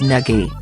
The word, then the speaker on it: Nagy: Here’s the way I look at Nagy’s version of his name: If he says the pronunciation is “Neggy,” that’s what I’m calling him.